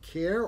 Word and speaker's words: CAER: CA er stand for and how do you pronounce it care autism care um yeah autism care it stands for community